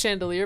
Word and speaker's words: Chandelure: a naughty Chandelure Chandelure I know it's pronounced chandelier but I feel like she would call it a Chandelure o such insolence am